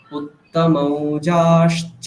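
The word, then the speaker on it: উত্তমৌজাশ্চ: युधामन्युश्च विक्रान्त হ্যাঁ, उत्तमौजाश्च वीर्यवान् হ্যাঁ, এখানে দেখুন উত্তম ঔজাশ্চ, ওখানে তয়ের পরে আর আকার নেই, সুতরাং ওটার কোনো টানার কোনো প্রয়োজন নেই। উত্তম ঔজা, আবার ওখানে বর্গীয় জয়ের পরে আকার আছে, সুতরাং ওটাকে দীর্ঘ বলতে হচ্ছে।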